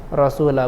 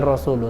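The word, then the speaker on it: رسولَ: Jadi bacanya Rasula ya. Rasula, bukan Rasulu.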